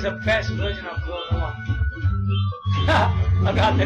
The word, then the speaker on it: Klonoa: I'm telling you, it's the best version of Klonoa.